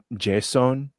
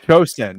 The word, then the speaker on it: Joseon: How do how do Koreans pronounce J? Is it not J or is it H or Y? Yeah. J. Yeah. Okay. So, I mean it's J O S E O N. What? How is it supposed to be pronounced? I don't know. Probably JSON. J like Oh, is a What the Chosen. Yeah, there you go.